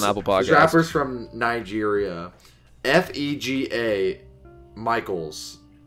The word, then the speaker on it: Fega: FEGA Michaels. I think it's pronounced Fega. Like that.